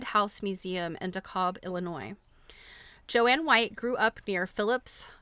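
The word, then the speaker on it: Jon: So, decades before the term upycling was coined, Joan Oh, I'm sorry. It's pronounced Joanne, even though she spells it J O N.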